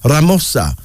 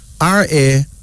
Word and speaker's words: Ramosa: of the 99 Names of Allah then there's ramosa r-a-m-o-s-a ramosa the basato of Lesotho name meaning the